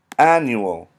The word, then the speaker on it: annual: Annual has 1, 2, 3 syllables. Annual. And it's pronounced annual. There's an emphasis like on the N here, and the N and the U. Annual. That would be your emphasis.